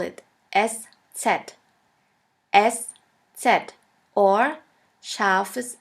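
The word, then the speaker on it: ß: We call it SZ, SZ, or scharfes S, which means a sharp S. This letter is pronounced like the double S in the word kiss. And always remember, this letter,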